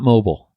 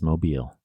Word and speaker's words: Mobile: happy if anything but it is not mobile alabama it's mobile alabama i wish i could